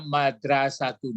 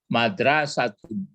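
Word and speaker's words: مَدْرَسَةٌ: Tilka madrasatun. Nah, itu yang betul. Ya, tilka madrasatun.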